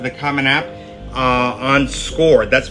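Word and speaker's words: Scoir: I don't have a score account and it is pronounced score even though it's spelled s c o i r and so this is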